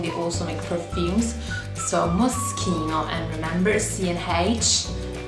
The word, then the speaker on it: Moschino: So Moschino, and remember C&H, it's always G.